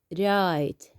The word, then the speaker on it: write: And again, we have the W here. We can't pronounce it. So this is silent. We pronounce the R, right, right.